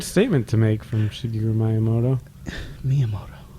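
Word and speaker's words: Miyamoto: Miiamoto. Is it really Miiamoto? Is that like a Japanese thing? Yeah, that's how you pronounce it.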